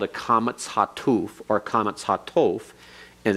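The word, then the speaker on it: קמץ חטוף: or comets hatof, and it's pronounced as the O in God, so that it is not ah as in comets. It's not O as in holum. It's not U as in shurik.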